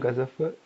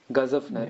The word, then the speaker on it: Ghazanfar: Ghazafar? Yeah, Ghazanfar.